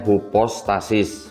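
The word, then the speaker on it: ὑπόστασις: stadiness hint assurance ya tuh bacanya hupostasis gitu Jadi ini substance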